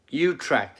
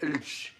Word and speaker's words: Utrecht: Utrecht is how it's pronounced. Tony, thank you. Utrecht. I call it Ulch for some reason.